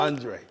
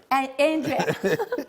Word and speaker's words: Andra: Although it's pronounced Andre is spelled A N D R A. A. Andra. Did I pronounce it right? Andre. Andre.